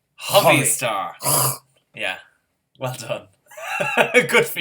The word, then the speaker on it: Hovi Star: Well, because it's a Hebrew name. It's Hovi. Hovi Star.